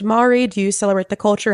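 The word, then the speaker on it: Māori: Do you speak I believe it's pronounced Mari. Do you celebrate the culture? Have you participated in a haka at all? I am part Mori.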